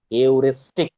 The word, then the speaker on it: heuristic: h e r i s t i c aoristic check the pronunciation aoristic h e u r i s